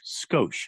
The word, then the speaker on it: Skoshe: I'm spelling it Skoshe. So people know how to say it phonetically if they ever see it on the text line. Skosh. Skosh. But I have the E at the end because it makes the O, instead of Skosh.